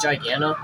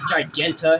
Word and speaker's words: Giganta: fighting Adam smash or is that giganto giganta should I say excuse me I said it wrong either there is